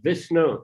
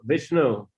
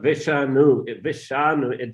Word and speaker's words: Vishnu: the dot dot mean not viscano but Vishnu Vishnu um it's not vishanu vision is anyway it's